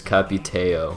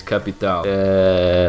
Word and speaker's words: Capitão: Stop pronouncing his name as Capiteo. It's Capitão. I don't even have anything to say for you.